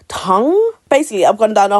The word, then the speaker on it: Tang: So, I keep saying Chang. Chang when actually it's tongue.